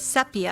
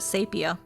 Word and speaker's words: sepia: Sepia. Oh, is that how you say it? Sepia. I always said it. Sapia.